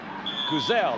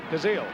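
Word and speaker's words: Kuziel: Now, that's Bob Kuzel. Am I pronouncing that right? Kazil. Kazil. That's close.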